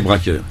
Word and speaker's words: Brascoeurs: donc nous parlait donc comme on dit brass coeur braqueurs ci alors breaker ça veut dire ça s'écrit b ras apostrophe coeur les braqueurs ça veut dire du coeur pour brassens mais on préfère dire les braqueurs d'accord jouer des braqueurs